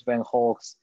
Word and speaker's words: Van Gogh: You know, all those Van Goghs, I like to pronounce it in the original Dutch way, and you know, the